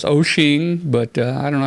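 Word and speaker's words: Wouxun: Dave you helped me I say whoop song but that ain't right so their website says it's pronounced O'Shea yeah I think it is Oshin but I don't know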